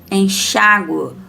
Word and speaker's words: enxágue: Quando falamos palavras com guá ou guó, pronunciamos a vogal U, tá? Então, aqui nós pronunciamos a vogal U. Guá, reparem bem, guaraná. Régua, régua. Água, água. Enxágue, enxágue. Ambígua, ambíguo. Sempre vamos pronunciar a letra U, tá?